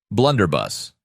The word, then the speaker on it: blunderbuss: man it's a 1750 blunderbust okay blunder bus not bust the Blunderbuss was a